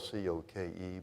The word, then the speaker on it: Coke: was Sir Edward Coke, spelled C-O-K-E, but pronounced Cook for whatever the reason. It's the English language. They do what they like with it, I guess. So Sir Edward Coke was the leader of